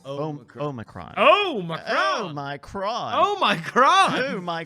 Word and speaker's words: Omicron: How do you pronounce the current COVID variant? Oh, you say Omicron.